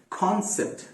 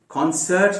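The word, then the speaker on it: concept: उसी तरीके से कॉन्सेप्ट, कॉन्सेप्ट, कॉन्सर्ट नहीं, अक्सर लोग हिंदुस्तान के बल्कि इस बर्रे सगीर के अक्सर लोग इसको कॉन्सर्ट कहते हैं। नहीं, कॉन्सर्ट नहीं है ये, कॉन्सेप्ट, कॉन्सेप्ट, बस इतना ही है।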